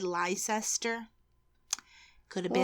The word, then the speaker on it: Leicester: it's Lester yes it's pronounced Lester leester and it's in lestershire